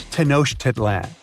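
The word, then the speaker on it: Tenochtitlan: It's Tanoshitlan. And Mayan cities are hard to pronounce too.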